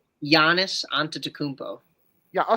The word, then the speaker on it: Giannis: How do you actually say Giannis onto Takmpo? Yeah. So I said it right. Giannis, not Gon.